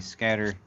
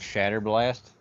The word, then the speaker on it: Shatter Blast: Let's talk about the simplest one first, which is probably going to be the scatter. These are actually called Shatter Blast. I mispronounced it a ton, and I am sorry.